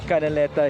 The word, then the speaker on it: Canaleta: will take on Kg canaleta without an N that is the right pronunciation of his last name canaleta he will be representing